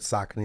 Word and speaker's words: Saucony: Some people pronounce it Saucony, but Saucony is the way to say it.